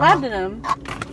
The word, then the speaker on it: labdanum: That's like, not how you say it. How do you say it? I'm not gonna tell you. Labdenum. Oh. Labdanum. That's what they say.